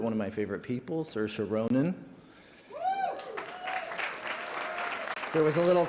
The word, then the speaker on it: Saoirse: favorite actresses, but one of my favorite people, Saoirse Ronan.